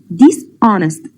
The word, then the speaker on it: dishonest: Dishonest. The letter of H here is silent.